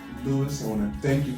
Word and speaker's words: Luiz: Luiz, I want to thank you for taking this time this morning to come in here and talk with me.